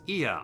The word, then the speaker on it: Ea: When the vibration of vocal folds was still required to convey our thoughts and intentions, Ia, I believe, was the pronunciation used to refer to our people.